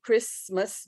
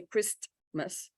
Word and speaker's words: Christmas: and r i s there's no t christmas you write a t but you don't say christmas christmas all right so that's